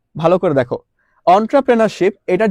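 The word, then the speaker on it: entrepreneurship: অন্ট্রপ্রেনরশিপ এটার যে উচ্চারণটা তোমরা কিন্তু অনেকে করতে পারো না। অনেকে হচ্ছে লাইক এন্ট্রাপ্রেনিরশিপ বা হচ্ছে অনেক কিছু বলো।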